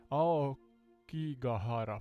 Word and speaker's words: Aokigahara: There's a syllable in the middle here. Aokigahara forest.